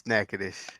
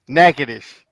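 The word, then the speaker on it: Natchitoches: uh Nebraska yeah it is sadish let me re refr that is let me go do redo that turns out is is nacadish nacadas is Texas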